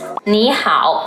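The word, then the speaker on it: 你好: Both of the characters are third tone, but when two third tones are together, the first third tone becomes the second tone, so Xiaoma becomes Xiaoma.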